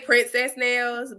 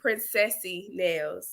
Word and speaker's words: Princesse Nailz: It's like saying princess like French. So it's pronounce it. I say Princesse Nailz, but it's Princessy Nailz.